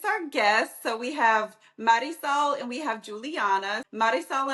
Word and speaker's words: Marisol: Um so, like Melissa said, my name is Marisol. For those people that can't pronounce and roll their Rs, it's Marisol.